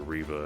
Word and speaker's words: Reva: main inquisitors reva and i know some people are calling her riva and i think they even pronounce her name that way in the show a little bit but i like to call her reva i feel like her name is a tribute to revan we should send out